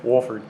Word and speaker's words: Wohlford: This is Wohlford, which, did I pronounce that correctly? Wohlford.